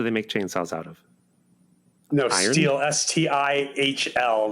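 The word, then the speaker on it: Stihl: what else do they make chainsaws out of steel s-t-i-h-l like I believe it's another German cup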